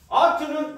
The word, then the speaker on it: ought to: oughto는 어루 합니다. 어루. 발음이 gotta, ought to, 어루 해요.